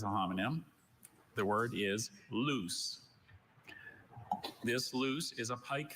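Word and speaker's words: luce: The word is loose.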